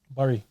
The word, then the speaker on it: Bury: Bury. It's not Bury, blood. Man said Bury. Bury. Bury.